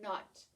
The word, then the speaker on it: knot: your shoes into a knot. Look the way it's written. Knot. Right? It's the word knot and then a k in front. It's pronounced exactly the same.